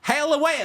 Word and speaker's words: Haley Welch: making her own podcast you say her name correctly it's haly Welch haly wel hail wels